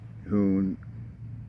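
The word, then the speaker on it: Conecuh: It's called Khoon uh sausage. It's spelled C O N E C U H.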